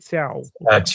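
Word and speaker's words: Thiaw: How do you pronounce the is it? Tiao.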